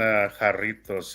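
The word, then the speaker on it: Jarritos: um I really recommend haritos it's with the j j a okay I know what you're talking jaros is but it's pronounced with a h because it's j is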